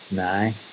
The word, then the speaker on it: now: If you're from Belfast, nearly every sentence will end with now, only it's pronounced nigh.